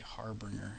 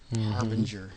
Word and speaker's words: harbinger: always screw that up I always used to say harbringer and I think that's just from my youth like I just didn't know how to pronounce it but I never say